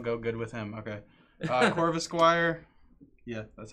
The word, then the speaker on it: Corvisquire: Corvisquire.